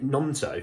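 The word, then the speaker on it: Gnonto: for lead Winger Wilfred nonto I think that's what he says I think it's a silent G um look Joe Rhoden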